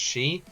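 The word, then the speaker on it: Sidhe: wants to know, S-I-D-H-E, different people pronounce it differently, so I'm going to just say side. I know one person told me it's pronounced she.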